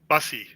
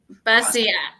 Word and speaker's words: Bussey: these beautiful people here what an awesome Jeff mispronounced my name but that's okay did I YY right busy busy I was gonna ask you because I was